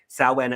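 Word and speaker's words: Samhain: go on YouTube look at what saan it's spelled s m Ha i n look at the history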